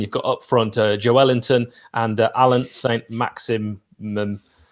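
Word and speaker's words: Joelinton: wondering why i'm saying joe ellington that is the correct way that anyone from brazil says joe wellington's name uh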